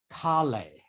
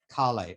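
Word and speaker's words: Kahle: a genius named brewster khalee i think that's how you would pronounce his name at least in german that's how you pronounce it khali or k-k-a-h-l-e and what he wanted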